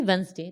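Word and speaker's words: Wednesday: 1, 2 ट्यूसडे, 3 वेंसडे, तो यानी कि यहाँ पर कितना आ रहा है, वेडनेसडे आ रहा है, जिसको हम प्रोनाउंसिएशन में क्या बोलते हैं, वेंसडे।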